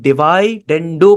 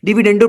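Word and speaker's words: dividendo: इसका नाम क्या है, इसका नाम होता है डिवाइडेंडो प्रॉपर्टी। यानी कि इसको हम क्या कहते हैं, डिविडेंडो प्रॉपर्टी भी कह लो इसको आप आसान तरीके से, इसकी असल प्रोनाउंसिएशन क्या होगी, डिविडेंडो प्रॉपर्टी।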